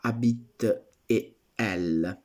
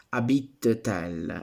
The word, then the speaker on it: habite-t-elle: Ecco, se io pronunciassi questo abit tel senza la T, io lo pronuncerei abitel, che non va bene.